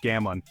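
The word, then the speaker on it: cảm ơn: sincha for hello or cam on pronounced gamon for thank you can work Wonders It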